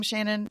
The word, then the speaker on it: Seanan: I'm pronouncing her name Shannon. It's Seanan, so I don't know. But I've been doing that for 20 years, so I hope I'm right.